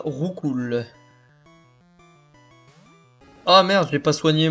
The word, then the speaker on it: Roucoups: Du coup, je disais, l'évolution de Roucoule, ça se divise, ça se prononce pas Roucoups, ça se prononce Roucou.